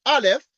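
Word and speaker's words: aleph: like this is a is a Hebrew letter pronounced Alf and the canity of R we denote by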